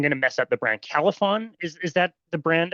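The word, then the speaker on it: Calphalon: I'm gonna I'm gonna mess up the brand Califon is is that the brand of of pan cathlon is how it's pronounced okay perfect okay so I had purchased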